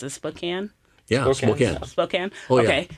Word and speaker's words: Spokane: church, and it's, I don't know how to pronounce it, Spokane. Yeah, Spokane.